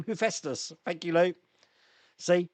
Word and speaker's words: Hephaestus: Hephaestus. That's how you pronounce that name. Hephaestus.